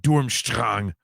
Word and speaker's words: Durmstrang: Stranger the German student in me always wants to pronounce it Dormstrong.